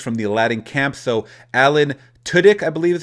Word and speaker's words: Alan Tudyk: So Alan Tudyk, I believe is how you pronounce it, will voice Iago.